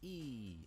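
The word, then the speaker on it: いい: Like, when you write that in Romanized letters, it's I. But it's pronounced like E. It's a long E.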